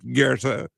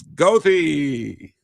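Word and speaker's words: Goethe: you know and and for the German students who see g o e t h e it is not Gera it's GOI you know as someone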